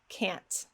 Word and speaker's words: can't: Can't. While it doesn't sound as natural, it will help you be understood. It's a lot more important to pronounce the T and make sure it's heard than it is to